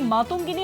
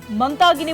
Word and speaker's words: মাতঙ্গিনী: ইতিমধ্যে আপনাদেরকে শোনাচ্ছিলাম যে দিল্লির কুচকাওয়াজে আজকে স্বাধীনতা সংগ্রামী মাতঙ্গিনী হাজরার নাম উচ্চারণ ভুল করলেন সঞ্চালক। মাতঙ্গিনীর জায়গায় মন্তাগিনী বললেন সঞ্চালক বাংলার মনীষীর অপমানে ইতিমধ্যে